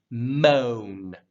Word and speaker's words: moan: anything like that it's one syllable mo but you want to make sure it has a roundedness to it mo before you draw down to that n moan not like moan you don't want to